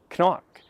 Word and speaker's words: CNOC: trivia here i think i finally pronounced this correctly for the first time knock i looked it up i think it's irish might be scottish but i think it's